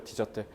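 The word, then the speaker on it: dessert: 자, 얘들아 요거 S 두 개 붙었잖아요. 프랑스예요. 디저트예요. 디저트. Desert 이렇게 발음해야 돼요. S가 빠지면 desert가 돼서 사막하게 돼요.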